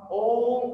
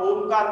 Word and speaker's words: ओम: हम ओम का उच्चारण करने वाले हैं। अ, उ और म, तीनों अक्षर का बेस लेकर जो एक बड़ा अक्षर बना है ओम का उच्चारण, तो वही ओम का उच्चारण हम अभी करने वाले हैं।